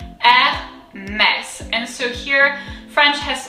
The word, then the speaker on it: Hermès: So first the H is silent, so we'll kind of like get rid of that, and that's something that we don't have to worry about. And then we'll break it down in two pieces. So first we have the first syllable, R. So remember the R is very guttural. It comes from deep down. R, mess.